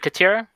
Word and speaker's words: Khatira: striking as katya is it khatira yes or okay yeah you said it right yeah so you could